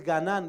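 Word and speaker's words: גנן: Y la palabra hebreo para huerto o jardín es Ganán. Di conmigo, Ganán. Con acento en la A.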